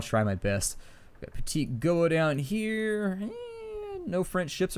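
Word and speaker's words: Petit-Goâve: I heard you guys said that down in the comments that this place was called Petit Goa, and so apparently I've been mispronouncing that for like the last decade.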